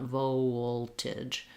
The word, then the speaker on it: voltage: So vol, and then our last part, the second unstressed syllable, tige. We have the true T, voltage. It does release the T. And then we have an I or an sound, voltage, voltage. It's probably more of an I, but it's a reduced vowel here.